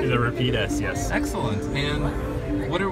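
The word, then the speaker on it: Rapide S: The Repeat S, yes.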